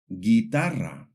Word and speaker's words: guitarra: When we see the combinations GUE or GUI, the U is silent. For example, guerra, guitarra.